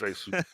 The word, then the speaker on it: Asus: Yeah, also a quick shout out to Asus, Republic of Gamers there. They definitely... I was told it was Asus. it is. It is Asus.